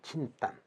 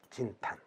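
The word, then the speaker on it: 仁丹: 근데 이 은단을 일본에선 진탄이라고 불러요. 아니면 진단. 그 은단의 앞글자 요 발음대로 가면 요게 J로 나가는 거예요. 진탄. 그래서 J를 붙였대요.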